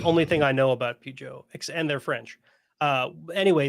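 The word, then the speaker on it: Peugeot: stellantis is what owns okay vide says it's pronounced pujo okay PUO which supports my opinion of their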